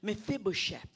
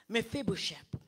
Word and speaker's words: Mephibosheth: And so Jonathan had a son named Mephibosheth. Am I pronouncing it right? Yes. Mephibosheth.